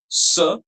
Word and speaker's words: ce: S. All of you pay attention to the pronunciation.